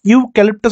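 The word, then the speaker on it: eucalyptus: কি আছে ইউ ক্যালিপ্টাস ইউ ক্যালিপ্টাস হচ্ছে এক ধরনের গাছ তাইতো তাহলে এখানে উচ্চারণটা কি দিয়ে শুরু হচ্ছে ইউ দিয়ে এই যে ইউ তাহলে তার আগে কি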